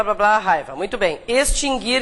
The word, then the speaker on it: extinguir: dois verbos nunca tiveram trema porque o u nunca foi pronunciado mas Há muitas pessoas que pronunciam o né então extinguir e distinguir inclusive todas as suas conjugações nunca teve trema o nunca foi pronunciado nada mudou então né tá